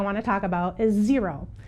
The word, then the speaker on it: Xero: to talk about is zero and zero is spelled x-e-r-o we do use zero